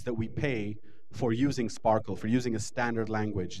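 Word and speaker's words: SPARQL: wikidata dorg and that will take you to a query system that uses a language called SP Sparkle Sparkle spelled with a Q uh this language is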